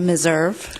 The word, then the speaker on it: Meserve: the correct pronunciation please good afternoon my name is meserve meserve okay and got it sorry